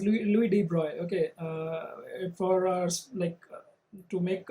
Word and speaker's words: Louis de Broglie: This is pronounced as Louis de Broglie.